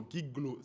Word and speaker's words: Guiglo: Giglo, c'est ça? Avec elle. Non, Guiglo. En fait, c'est la prononciation qui est différente.